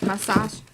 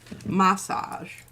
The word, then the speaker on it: massage: massage oh think that's the way the Brits say it massage massage rather than massage that'll just keep everything